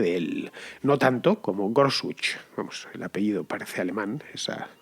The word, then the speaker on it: Gorsuch: No tanto como Gorsuch. Vamos, el apellido parece alemán. Los estadounidenses no pronuncian la che como J, que es como la pronuncian los alemanes, así que sería Neil Gorsuch.